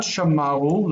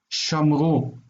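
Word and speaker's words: שָׁמְרוּ: So the word for they have kept is not shamaru, that we would expect, but shamru.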